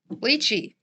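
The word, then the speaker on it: lychee: Chinese correct interesting and and you it is leachy and it is Chinese interesting and yeah it's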